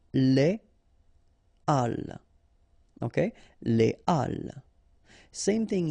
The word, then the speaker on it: les halles: So in that case, you shouldn't make the liaison, so you shouldn't say les halles, but you should say les halles.